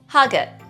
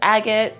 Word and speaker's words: Hagat: Hagat. Hagat. This is also pronounced as agate to most locals, and the reason that